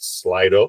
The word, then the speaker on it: Slido: We'll have time for Q&A within that, and we're using a new Q&A technology feature today, something called, I think it's pronounced Slido, S-L-I-D-O.